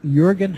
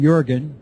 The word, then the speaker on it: Jürgen: The author of the book is Jürgen Heideking, obviously German. First name Jürgen, J-U umlaut, R-G-E-N. Last name is spelled Heideking, H-E-I-D-E-K-I-N-G. Jürgen Heideking.